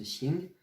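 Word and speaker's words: 行: Celui-là, par exemple, de caractère, quand on va dire xing bu xing, ça se prononce xing, c'est ok, ça marche.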